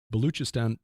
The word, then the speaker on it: Baluchistan: inside the Baluchistan, and I think that's how Tim said to pronounce it, the ch instead of a k. Baluchistan province of Pakistan, which